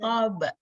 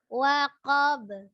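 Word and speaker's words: وقب: Waqab. Waqab. Idza waqab. Jadi bukan waqab gitu ya, bukan waqab. Itu kenapa coba? Qafnya pasti ko.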